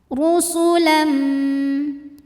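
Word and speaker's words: رُسُلًا: auzubillahiminasyaitanirrajim Bismillahirrahmanirrahim rusulam huruf ro dibunyikan secara tafkhim karena ro berbaris damah cara bacanya ditebalkan pangkali lidah kita naik rusulam berikutnya ada hukum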